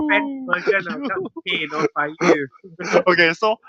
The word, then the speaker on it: FaKyu: The Y is pronounced E.